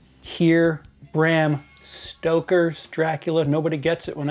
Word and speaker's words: Stoker: purpose but I'll say it correctly here Bram Stoker's Dracula nobody gets it when I say Bram stroker stroked her hasn't as an you know pleasing